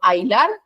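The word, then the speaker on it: ahilar: débil lo mismo con ailar aunque tenga una h intermedia son esto es una sílaba porque al pronunciar suena como Ay o como si fuese que allí no existiese la H entonces sigue siendo un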